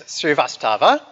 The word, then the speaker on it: Srivastava: Srivastava.